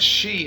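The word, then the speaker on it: sí: which Loosely means fairy the word she is spelled s-i Father which is an accent usually this word fairy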